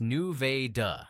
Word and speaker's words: Nevada: Nevada, Missouri, pronounced New-Vay-Duh, not like the state out west, is the county seat of Vernon County with a population just over 8,000.